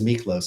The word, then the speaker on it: Miklos: I don't know if we're saying one of us says Milkos and one of us says Miklos. Well, his name is Miklos. I say So I say it right? Yeah, I say Melkos is a bit.